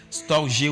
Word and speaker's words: storge: Un quatrième thème que j'ai découvert, c'est storge. Storge ou bien storge, ça s'écrit S-T-O-R-G-E.